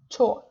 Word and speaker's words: 좋아: Okay, so the first one, our rule is about not to pronounce H in Pachim. So we have 사다, 좋아, 좋아, 즈, or we don't read H and then we read A, 좋아.